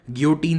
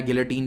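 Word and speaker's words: guillotine: पहली बार लुई 16 को बीच चौराहे पर गियोटीन से मारा जाता है। तो ये गियोटीन या गिलेटीन जो कहना है कह लो इसे, दोनों ही प्रोनाउंसिएशन सही है।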